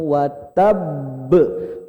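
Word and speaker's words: وَتَبَّ: Ditahan sejenak baru dipantulin. Tabbat yada abi lahabiu watab. Watab. Tahan sejenak baru pantulin.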